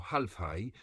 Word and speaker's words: Alfeo: Alfeo se pronuncia como Halfai, mientras que Cleofás es Halofai.